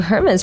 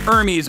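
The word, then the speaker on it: Hermès: But I restrained myself from lecturing them that you don't pronounce the H in the company's name.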